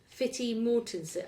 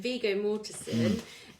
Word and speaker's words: Viggo Mortensen: Okay, so as you said, Fitty Mortensen. I mean, Viggo Mortensen. That's how you pronounce it.